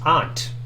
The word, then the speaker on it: aunt: Let's see, how do you pronounce aunt? Aunt. Vowel is ah, ant, caught. Ah. Yeah, it's more like caught in my terminology.